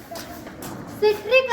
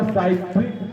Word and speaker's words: citric: सिट्रिक अम्ल। Thank you, आपका answer सही है, लेकिन आपको बोलना होगा साइट्रिक अम्ल। साइट्रिक स्पेलिंग लिखा हुआ रहता है CITRIC, लेकिन हम लोग प्रोनाउंसिएशन करेंगे साइट्रिक अम्ल।